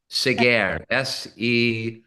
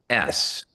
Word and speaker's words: Seghers: It's spelled Hercules, which is how we would pronounce it in English. Seghers, Seghers.